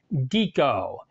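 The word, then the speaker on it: dico: is the vowel I the long I for instance in classical Latin sounds more like our long e for instance in our words squeak so this Latin word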